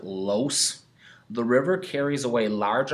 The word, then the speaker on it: loess: This soil is called loess, or if you want to pronounce it, los.